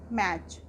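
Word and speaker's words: match: METCH, मैच, इसको हम मैच में टी साइलेंट क्यों है, क्योंकि टी लेटर के बाद CH है और हमने बताया था कि अगर टी लेटर के बाद CH होता है तो भी हमारा टी साइलेंट होता है। तो इसको हम बोलेंगे मैच। मैच मीन्स मुकाबला या मेल।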